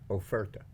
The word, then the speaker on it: oferta: cigar enough credit theart how you say it oferta oferta like offer oferta okay what he say